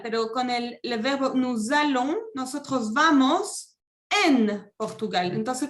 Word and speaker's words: allons: Eso se dice allons. Allons. Nous allons, y ahí me hace la liaison entre el sujeto y el verbo.